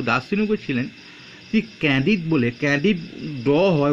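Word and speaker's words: Candide: তিনি ক্যান্ডিড বলে, ক্যান্ডিড হয় উচ্চারণটা বা লাস্টে, ক্যান্ডিড বলে ইংরাজি অক্ষর তো এই জন্য বাংলায় চেঞ্জ হয়।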